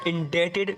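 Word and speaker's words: indebted: इंड डेटेड टू यू यहां पर B silent होगा इन डेटेड टू यू I understand I एम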